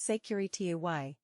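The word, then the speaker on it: sécurité: safety signal consists of the word securite pronounced secury T and indicates that the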